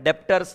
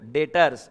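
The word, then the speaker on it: debtors: Spelling बराबर है, डेप्टर्स नहीं है वो, डेटर्स। बी साइलेंट, क्यों साइलेंट है पता नहीं है, डेटर।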